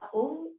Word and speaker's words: Om: Vous pourrez mettre le son Om Le mantra Om, il y a 3 sons, 3 syllabes en fait. Non, 3 sons, le A, le O et le M.